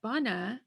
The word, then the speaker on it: bana: and you'll notice that bana has uh the first a in the word does not sound like the second a so let's take a look it's bun ah ba na so this first a doesn't sound the same sounds more